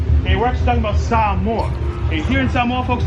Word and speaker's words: Samoa: Yeah, so ladies and gentlemen, it's actually pronounced Samoa. We like to enunciate our vowels here, so everyone knows Samoa.